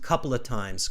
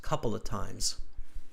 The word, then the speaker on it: couple of: say it like this couple of times couple of times couple of times yeah we don't pronounce the F couple of times we completely melt those words together a couple of times